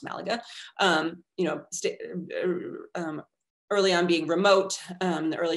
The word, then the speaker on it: Malaga: You see the case of Malaga, it's actually pronounced Malaga, early on being remote, in the early 20th century, a sort of remote outpost of the city.